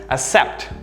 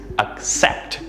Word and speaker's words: accept: pronunciation of course is accept the stress being in the second syllable not the first one except and finally the